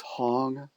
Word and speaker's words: Hong: goes along with it which is Hong that rhymes with song and then saw sau